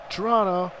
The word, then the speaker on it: Toronto: Toronto, our first O is silent.